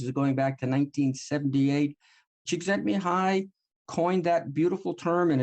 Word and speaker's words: Csikszentmihalyi: Michael Csikszentmihalyi. Not a bad pronunciation, huh?